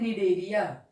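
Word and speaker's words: Cnidaria: और यहाँ पे एक सिलेंट्रेटा को हम लोग अदर नेम से जानते हैं निडेरिया, सी साइलेंट है, जिसे सिलेंट्रेटा नहीं याद हो वो निडेरिया याद रखेगा।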